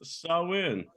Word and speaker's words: Samhain: three weeks right and although it is spelled differently it is pronounced sawin very confusing I'm sorry